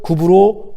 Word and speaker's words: 구브로: 근데 왜 이 사이프러스라고 하지 않고 구브로 구레네라고 하는가? 헬라어의 발음이 구브로 구레네에 더 가까워서 우리 개역성경이 그렇게 번역을 한 것이죠.